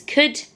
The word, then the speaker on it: could: It's like the all isn't even making a sound. And really, where the O and the are should just be an sound. K-u-d.